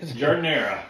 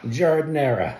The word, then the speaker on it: giardiniera: How do you pronounce it? Giardiniera. Giardiniera.